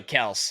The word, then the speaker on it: Kelce: Yeah, Travis Kelce was like, it's actually Kels after he had like 8 All-Pros.